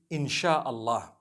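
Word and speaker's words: Insya Allah: s-y-a they pronounce it they pronounce the Sy the way we pronounce sh so they can write it how they want for as long as when people read it they read it insha Allah because a transliteration means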